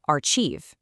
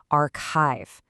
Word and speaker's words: archive: You know, like in church, so they'll say archieve. again incorrectly archief. But in this word that cha actually makes a hard K sound. So the correct pronunciation is archive.